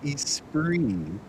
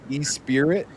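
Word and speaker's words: Esprit: I always thought it was weird that they pronounced it espree. Espree. Oh, yeah. You're talking about Yeah. Yeah. Yeah. It looks like it says Espirit, but it's Yeah.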